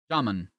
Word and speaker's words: jamun: The U in jamun is pronounced how you say the put jamun. Gulab jamun?